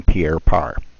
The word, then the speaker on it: Pierre Part: at it most of these guys are in Pierre part it's spelled pa rt but they pronounce it Pierre